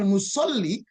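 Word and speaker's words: مُصَلِّي: Faidha kana, nah ini dia, faidha kana musolli, apabila yang sholat, ya bukan musola ya, kalau musola itu tempat sholat, kayak tak marbut musola. Kalau sini musolli ya, la yahsunuha, apabila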